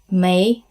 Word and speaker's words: may: May reservation ako. I have a reservation. Yeah, it's very simple. Easy to remember. May, it sounds like the 5th month of the year.